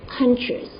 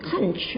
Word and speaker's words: conscious: He said, conscious, not conch, okay?